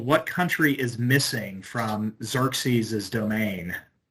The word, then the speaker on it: Xerxes: Yes, it's Xerxes. Xerxes the first uh would be how his name would be uh pronounced in uh Greek.